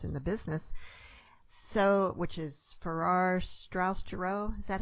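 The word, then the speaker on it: Farrar, Straus and Giroux: And, of course, you've been published by one of the largest publishers in the business, which is Farrar, Straus Giroux. Is that how it's pronounced?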